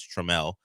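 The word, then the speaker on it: Trammell: Uh, that that is not how you say his name. It is Trel.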